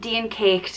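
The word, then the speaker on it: Dian Cécht: it's like a and there's a fada over the e and a fada is a accent that elongates the sound of the vowel and deen caked it wouldn't be a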